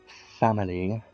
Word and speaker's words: Famille: So princess of the great tree family that's how you say it.